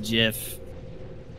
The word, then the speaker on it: GIF: who came up with the format said is pronounced Jif yeah except I don't I saw a video